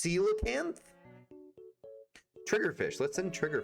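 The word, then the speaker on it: coelacanth: Oh, it's not pronounced colacanth. It's pronounced seilocanth trigger fish.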